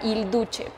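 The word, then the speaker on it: Il Duce: Benito Mussolini, al que se le apodaba Hilduche. Hilduche se escribe con C. Hilduce.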